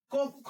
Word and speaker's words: কক্ষ: কি এটা হচ্ছে কষ কেমন হবে ক খ ওকা খ কক্ষ আমরা জানি ক্ষিয় মানে হচ্ছে ক এবং খ কক্ষ ফাইন তাহলে এটা কি